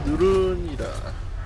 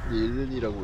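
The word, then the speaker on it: Nuln: Nurun이라, 닐른이라고 읽어야 하는데 원래는.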